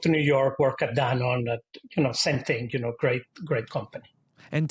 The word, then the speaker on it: Danone: What did you learn from your time at Danone? Is that how you pronounce it? Danone? Danone? Yeah, Danone. Okay. Perfect. Yeah, it's Danone in Mexico, but Danone in the US.